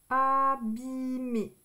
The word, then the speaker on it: abîmer: Ici, ça, c'est abîmer. E et R, ça fait le son E. Abîmer.